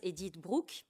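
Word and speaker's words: Edith Bruck: Charlotte delbau ou de l'italo hongroise eted Brook prononcé à l'italienne n'exclut pas cependant d'autres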